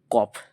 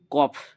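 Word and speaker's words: ق: দুটো ফোটা আছে বা নুক্তা আছে এটাকে বলব কফ কি বললাম কফ কফ তাহলে সিম্পল ওয়েতে ওয়ান সেকেন্ড ওয়ান্স এগেন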